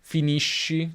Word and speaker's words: finisci: Finisco come sconto, per esempio, finisci come sci, finisce come pesce.